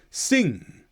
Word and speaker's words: sing: And if that happens at the end of the word, then the g letter is silent or nearly silent. Listen to these. Sing thing. You'll just hear the tiniest click at the end of sing and thing.